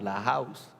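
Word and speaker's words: La Haus: La House en Manizales se escribe H-A-U-S. Rarísimo, ¿sí o no? La House. La House, como suena, muy colombiano, muy colombiano.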